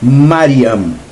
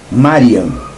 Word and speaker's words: Mariam: Ah, mas no texto grego está Maria, porque no texto aramaico, a pronúncia do nome da mãe de criação de Yeshua é Mariam. Mariam. Ma igual no grego.